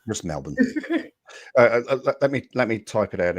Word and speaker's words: Melbourne: It's just Melbourne. It just has to be. I'm sorry. It's just Melbourne.